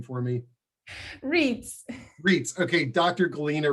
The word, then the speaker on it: Reitz: saying say your last name for me reads reits okay dr galena reads okay good good i didn't want to botch